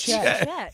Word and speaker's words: Chet: Who's Chet? It rhymes with forget.